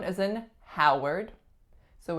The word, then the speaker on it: Howard: one is Howard Howard this one is pretty tricky because there's nothing in the first syllable that indicates an ah sound but in this case the vowel au is represented by the letters O W the second syllable even